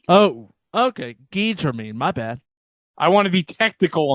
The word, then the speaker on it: Guy Germain: Of course he'd be Guy. French-Canadian. Guy Germain.